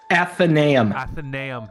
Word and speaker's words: Athenaeum: I can't pronounce it. I'm sorry. You say it one more time. Athenaeum.